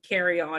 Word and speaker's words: Kerrion: an oldest child named carry-on and it's pronounced carrying on like the luggage you're taking on an airplane and i didn't realize